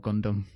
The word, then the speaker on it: Gundam: No, Gundam. No, Gundam, that's fine, yeah. Is that how you pronounce it?